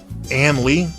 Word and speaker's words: AN1337: It's brought to us by AN1337, or Ann Lee, I think is actually how it's meant to be pronounced.